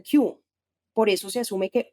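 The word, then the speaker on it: 九: que tiene otro significado los dos en japonés se pronuncian kyu por eso se asume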